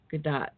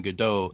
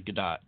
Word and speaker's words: Gadot: but a gal gadot it's actually gal gadot good dot believe it or not yet everybody keeps saying Godot and they recently came out and said now you're all saying it wrong it's actually gadot okay so gadot she